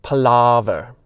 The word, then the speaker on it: Palaver: I'm into it, but it's pronounced Palaver. He really drew out that A.